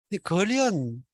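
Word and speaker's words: 傑: 그래서 그거 덮는 걸 횃보라고. 우리 어릴 때는 그런 식으로 많이 있어요. 보르네오 가군가 그거 나오기 전에 다 그렇게 집집마다 그때 걸어가지고. 그런데 이게 발음이 걸이에요, 걸. 그래서 사람 인변을 붙여가지고 발음은 걸이고 뜻은 사람과 관련된 거죠.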